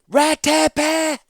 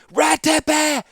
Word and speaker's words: Ratepe: "Ratepe!" She used all 3 syllables of his name. "Ratepe!